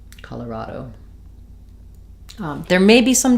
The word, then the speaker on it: Colorado: has some secondary stress so Colorado um both a and then awah here and a true o at the end Colorado Colorado um there may be